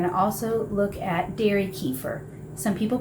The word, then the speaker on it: kefir: then we're going to also look at Dairy kefir some people pronounce it cafir um but I'll just refer to it as kefir cuz that's the word I'm most familiar with